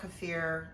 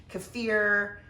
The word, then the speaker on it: kefir: And I should I should pull over to the side and say kafir keir. It really doesn't matter how you say it. Uh, everybody says it different. I think the actual pronunciation is kafir.